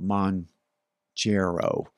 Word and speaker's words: Mounjaro: But anyway, we'll call it Mounjaro. Think of Mount Kilimanjaro.